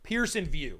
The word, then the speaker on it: Pearson VUE: go to the source Pearson view it's spelled v all right Pearson VUE not v e w all right and so